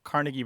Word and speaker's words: Carnegie: to toss in here about Carnegie versus carnegi and that is that he became a well-known figure before radio so you were more